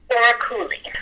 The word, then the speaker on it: Oraculi: Did I pronounce that correctly? Oraculi.